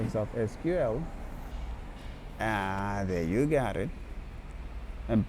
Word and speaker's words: SQL: The name SQL is correctly pronounced SQL instead of somewhat common SQL.